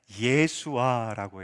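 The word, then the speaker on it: ישועה: 이 도우심이라는 단어가 중요한데 한번 보여주시면, 자, 히브리어로 이 도우심이 어떻게 읽냐면 예수아라고 읽어요.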